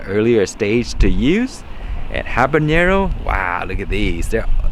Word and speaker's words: habanero: with because habanero habanero i keep pronouncing that wrong but it's habanero so anyway these are really